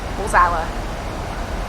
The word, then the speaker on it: Warsaw: So it's Warsaw in English. In Polish, they'd pronounce it Warsaw. Oh, okay. In Polish, it's Warszawa. Warszawa. That's what it is in Polish, and in English, it's Warsaw. So that's that sorted out.